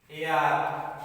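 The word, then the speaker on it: heir: আগেও এন বসে, যদিও এইচটা কনসোনেন্ট, এখানে এইচ উচ্চারণ নেই, তাহলে কি হবে? শব্দগুলো আমরা দেখে নেই। আওয়ার, এয়ার উত্তরাধিকারী, এয়ারএস উত্তরাধিকারিণী, অনারেবল সম্মানীয়, অনেস্ট, সব এগুলোর আগে কি বসে?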